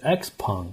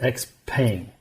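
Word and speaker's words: XPeng: She interviewed Brian goo so she was saying X pun like you and I Brian is saying X Pang so if you watch the CNBC interview with Unis Yun and Brian goo he says X pay not X so I think we're saying it wrong I don't know why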